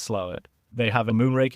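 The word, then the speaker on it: Slaithwaite: which pronunciation Wise It's spelled SLA weight but pronounced slait well I've learned something new yeah exactly if there's any one thing that you get out of this episode is that SLA weight is pronounced slow they have a moon ring Festival essentially a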